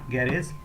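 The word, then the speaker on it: garage: এই জন্যই আমাদের উচ্চারিত হবে এখানে বর্গীয় জয়ের মতো, অর্থাৎ সফট জি এর মতো উচ্চারিত হবে। তাহলে এটা কি হবে আমাদের? এটা হবে এজ, এটা হচ্ছে কেজ, এখানে হবে গ্যারেজ। একইভাবে যদি আমরা অনেক কিছু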